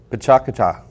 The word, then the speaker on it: Pecha Kucha: And Harold George, let's see, do I say it right? Pecha Kucha? Pecha Kucha.